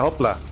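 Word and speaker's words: hoppla: It made me think, yeah, hopla. That's sort of how you spell it. But we're lazy, so we don't pronounce the L, so it just becomes hoppa.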